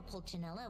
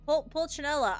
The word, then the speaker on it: Pulcinella: I wonder how Pulcinella will respond this time. Pulcinella, I said it right when I said his name the first time. I definitely said that, not Pulcinella.